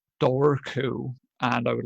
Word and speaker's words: Dobhar Chú: So it's Dobharchu. Dobhar Chu is how you pronounce it in Irish, I believe.